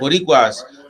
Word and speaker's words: Boricuas: Boricuas, they feel as though we're different, right?